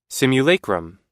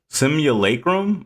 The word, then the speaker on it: simulacrum: Simulacum. Simulacrum.